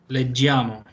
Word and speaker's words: leggiamo: Leggiamo. Sí, pero sin la I. Acuérdate que Leggiamo. ¿Verdad? eso. Es leggiamo. Desaparece. Ahí sí desaparece la I en la pronunciación. Leggiamo.